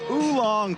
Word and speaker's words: oolong: Oolong tea. I had to look that up how to pronounce it, but it's oolong, and you know your loose teas.